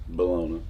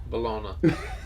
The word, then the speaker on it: bologna: and biscuits and gravy bologna bologna you spell it like that but you don't say it like that's an old grocery